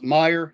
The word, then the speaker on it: Meyer: Did I pronounce Meyer?